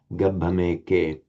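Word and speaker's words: gabbhameke: If you make the break here, gambhameke, that converts that syllable into a long, not gambhameke, but gambhameke, which actually is wrong.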